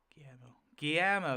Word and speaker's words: Guillermo: Guillermo.